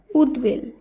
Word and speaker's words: উদ্বেল: শব্দটিকে উচ্চারণ করতে হবে পরবর্তী নিয়ম উদ বা উদ উপসর্গ যোগে গঠিত শব্দের বফলার উচ্চারণ একই থাকে আগের নিয়ম দুটিতে আমরা